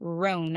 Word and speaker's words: Roan: First of all, let me spell it because the way you're saying it. Chapel. Yes. Chappell. Chappell. That's not what I'm saying. Roan. I said ROAN. Chaperone. Yeah, we're Southern, and I heard Chap chaperone.